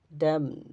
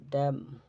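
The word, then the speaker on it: damn: শব্দের শেষে এমএন থাকে শব্দের শেষে এমএন থাকলে এরপর কোন vowel I ই ও আই ও ইউ এ ই আই ও ইউ না থাকলে এন এর উচ্চারণ হয় না যেমন সলেম সলেম গুরু গম্ভীর হচ্ছে কনডেম কনডেম ড্যাম ড্যাম হাইম হাম আটাম এরকম শেষের এন উচ্চারিত হবে না আচ্ছা এম এন থাকলে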